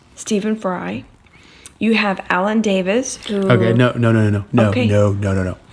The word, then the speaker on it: Davies: When you put those letters together, it is an E sound, not a short I sound. Alan Davies. Not Davis.